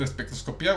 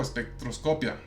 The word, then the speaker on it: espectroscopia: y resulta que sí, que la palabra espectroscopía puede ser espectroscopía o espectroscopia, dependiendo de la región donde se dice. Y resulta que en México es mucho más común la versión con el acento en la I, y en cambio en España es más común la versión con la sílaba tónica en la O.